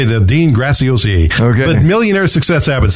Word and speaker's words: Dean Graziosi: But I don't know how in the world you say it, let alone spell it. It took a long time to figure out how to say it, Dean Graziosi.